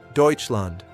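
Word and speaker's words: Deutschland: Deutseland. Notice how we say Deutseland. That eu sound is special.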